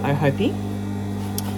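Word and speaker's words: Ōhope: oh and hope and it's pronounced oh Hopey and O are um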